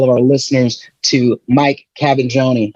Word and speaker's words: Cavaggioni: I want to welcome everybody, all of our listeners, to Mike Cavaggioni.